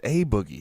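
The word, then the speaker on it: A Boogie wit da Hoodie: boogie with the hoodie it's a boogie you gotta you gotta pronounce the a hard it's not uh who's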